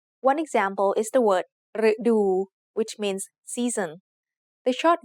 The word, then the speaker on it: ฤดู: So the word ฤดู has two syllables. The first syllable is made up of the letter รึ It is high tone because it acts like a low-class consonant with a dead syllable ending and a short vowel.